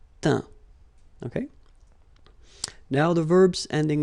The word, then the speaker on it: teint: Okay, as usual, final T not pronounced. Atteint, éteint. Fin, peint, teint.